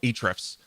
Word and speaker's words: Ahrefs: or aethrifs man i i hate the name of the company because it's always like how do you pronounce it i know them at the company they call it ahrefs although there is an a at the beginning so um we are